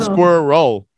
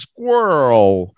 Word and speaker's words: squirrel: it Tracy squirrel Squirtle but you're not gonna go to different R's the R's it's just kind of kind of stretch it a bit squirrel squirrel squirrel all in one wave not square a roll Square roll no just squirrel squirrel squirrel that's better